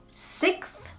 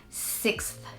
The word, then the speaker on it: sixth: some people say sixth I've heard a lot of natives say six and just not say the X but I'm I'm a stickler for correct pronunciation so I have to say it sixth sixth and that really jumbles